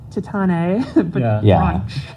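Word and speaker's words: Titane: Is it spelled like Titan? With an E at the end. Yeah. Yeah. Tatan but French.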